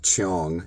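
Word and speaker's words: jeong: And this became a lot easier for me when I read about a Korean concept called Chong. It's spelled J E O N G.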